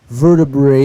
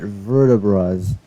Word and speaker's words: vertebrae: I think vertebrae is how you say it, not vertebras.